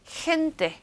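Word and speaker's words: gente: 그 다음에는 강한 흐 소리를 낼 건데 헨테, 헨테. 그렇다고 너무 목이 막 상하게 연습을 많이 하시는 분들이 있어요.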